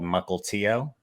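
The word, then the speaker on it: Mukilteo: i grew up in a little town called mukultio most people don't pronounce it correctly but that's how you pronounce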